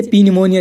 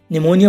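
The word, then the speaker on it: pneumonia: और इसमें देखो गाइस, एन से पहले पी आया हुआ है तो पी साइलेंट है, इसे पी निमोनिया नहीं पढ़ेंगे, निमोनिया पढ़ेंगे गाइस, इसकी हिंदी भी निमोनिया है।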